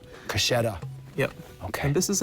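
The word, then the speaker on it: Kachera: So the final article of faith is the Kashera. Kasheda.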